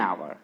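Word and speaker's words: hour: एन आवर, ठीक है तो एच स्टार्टिंग में नहीं, पढ़ते इसका प्रोनाउंसिएशन क्या हो जाएगा, आवर ना, क्या हो जाएगा, आवर।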